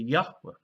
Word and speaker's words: Yahweh: And so I suggest that he formed his name as simply Yahweh, with the second last syllable accented, as was common in that ancient form of the language.